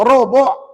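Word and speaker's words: ربع: ada 240 robuk ha Cuba sebut Rob Rob bukan roboh tuan-tuan ya Rob ya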